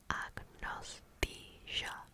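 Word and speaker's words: agnosthesia: Diiathesis which means condition or mood pronounced agnostia.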